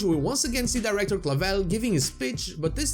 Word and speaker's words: clavel: we can see director clavel which will keep its position from game to game only changing its attire its name clavel comes from the flower carnation which is pronounced clavel in spanish and it is a